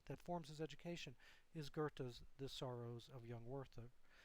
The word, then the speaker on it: Goethe: Now, in terms of literary artists, um- Goethe, that’s how you pronounce that.